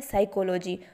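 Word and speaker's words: psychology: वैसे ही है साइकोलॉजी, तो यहाँ पर पी नाम का व्यंजन है वह साइलेंट है, तो यहाँ पर भी लिखने का तरीका अलग है एवं उच्चारण का भी अलग है।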